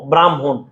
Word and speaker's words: ব্রাহ্মণ: ধর হর সাথে ম ব্রাহ্মণ এইযে ভাই এটি হচ্ছে হর সাথে মর সাথে ম যুক্ত হয়েছে তার মানে মর উচ্চারণ আগে হ পর চলে যাবে যেমন ভাইয়া খেয়াল করে